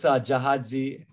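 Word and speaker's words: Gyaahadze: But It's Gyahadze, and that's spelled G-Y-A-A-H-A-D-Z-E. Sometimes G-Y-A. Let me even type it in chat. G-Y-A-A for Ja, and H-A-D-Z-E.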